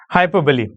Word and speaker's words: hyperbole: Hyperbole. Okay, this is how it is pronounced as hyperbole.